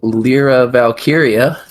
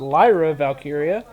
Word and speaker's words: Lyra Valkyria: whatnot Asuka will face lra valkyria in a first round match in the Queen of the Ring tournament just to let you know I'm pretty sure it's pronounced Lyra valkyria well I can't English